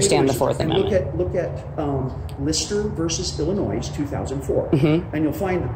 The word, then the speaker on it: Illinois: right I'm sorry but anyone that pronounces the S on the end of Illinois shouldn't be making six figures this case involved a